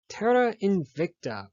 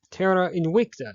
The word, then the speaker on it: Terra Invicta: You're watching 7th Circle Gaming, and today we're going to be analyzing the game Terra Invicta, or Terra Invicta if you prefer the classical Latin pronunciation. Whichever one you prefer, it means Earth Unconquered.